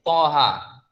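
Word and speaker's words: طه: Misalnya, itu kan sebenarnya bacaannya O itu Tapi ke dalam dalam tulisan transliterasi bahasa Indonesia itu pakai A, Toha. Nah, tapi bacanya adalah sebenarnya itu, Toha. Nah, ini yang harus kita pahami. Jadi to itu adalah TH. Kalau ta itu biasa T biasa. Toha.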